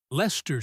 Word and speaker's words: Leicester: Or Leicester Square, pronounced Lester Square.